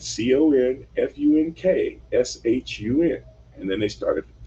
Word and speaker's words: Confunkshun: We got a funny spelling on this next song. It's on the B side of our latest single, and it's called Confunction." And he said Confunkshun.